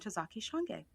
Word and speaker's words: Ntozake Shange: Africa on a soularching trip and emerge and Tazaki Shang.